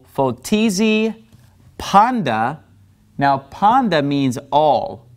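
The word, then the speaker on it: πάντα: in front of it it becomes a D sound like dog in English all right so this word is actually pronounced Panda all right so ooy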